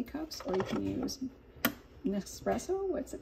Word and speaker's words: Nespresso: These other little cups in here, so you can you can use K cups, or you can use nespresso. What's it called? How do you say it? Nespresso.